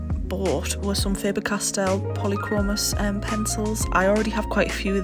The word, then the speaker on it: Polychromos: already swatched my original Polychromos that I have, or Polychromes, I don't know how they pronounce it, I think it's Polychromos, that's how I'd say it anyway.